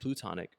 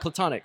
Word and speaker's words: platonic: No, I mean, I'm just pronouncing it plutonic, right? Oh, Mhm. I think that's like an element or some shit, actually. Yeah. You're thinking Radioactive or some plutonium, shit. bro. All right, platonic, right?